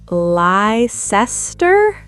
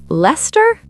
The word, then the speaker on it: Leicester: Leicester? Nope, Leicester. Leicester?